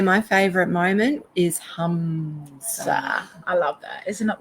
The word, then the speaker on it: Hamsa: It's HAM, is that right? No, HUM. It is. Yeah. And just SA. Yeah. Hamsa. And now that's probably not the exact correct spelling. However, that phonetically, if you say Hamsa, you get the vibration that you're looking for, and that's what that's what it's about.